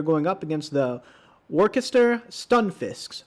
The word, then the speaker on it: Stunfisk: up against the orchestra stun fisks i've been told that's the proper way to pronounce it not stun phi not sure if i